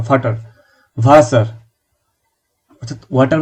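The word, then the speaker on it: Wasser: বের হয়ে আসবে কিন্তু এখন এই প্রেসারটা নিয়ে যে ভাসারকে ভাসা বলতে হবে ফাটারকে ফাটা বলতে হবে এই প্রেসার নেয়ার দরকার আপনি আর এখন বা এয়ারটা সম্পূর্ণভাবে উচ্চারণ করেন আপনি পলিশিং দিবেন যখন আপনি বিটু সিও লেভেলে যাবেন তখন তখন পলিশিং দিবেন। এখন শিখতে থাকুন। ভাসার সম্পূর্ণটাই বলুন ভাসার। ভাষা পরে বলবেন। আপাতত ভাসার।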